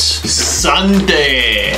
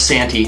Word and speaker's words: Santee: Sante. Unless we're totally saying it wrong. No, it's Santee.